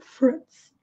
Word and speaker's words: fruit: Fruit, fruit, sem pronunciar a letra I.